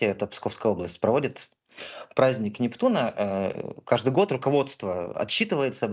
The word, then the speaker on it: Нептуна: Уверен, как Нептуна, правильно, наверное, да, делать ударение, как уверен нашим многим зрителям.